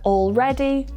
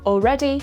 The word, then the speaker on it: already: This is why words like already, almost, and all right often sound like already, almost, and all right when they're said quickly.